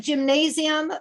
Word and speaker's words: Gymnasium: It looks like gymnasium, pronounced Gymnasium.